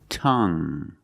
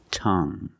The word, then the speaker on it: tongue: have this word tongue the UE at the end is silent so we pronounce it like young tongue you have only the nasal sound there's no G it's just a sound hmm tongue this is my tongue